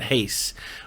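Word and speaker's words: Reis: Mighty Mouse and you guessed it, Wilson Hees. Wilson Hees. I'm not sure how to say his name. He is Brazilian. Wilson Hayes? You never know. Wilson Hayes. That's it. Hayes.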